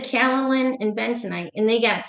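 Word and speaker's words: kaolin: I said calalin and bentonite and they got so excited.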